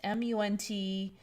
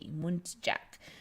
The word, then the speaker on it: muntjac: And this one called, I think it's pronounced Muntjac. It's Muntjac, Muntjac.